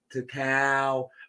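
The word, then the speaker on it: Tical: Yo, to cow. Hey, yo, tell her to say it right, man. There's no G at the end.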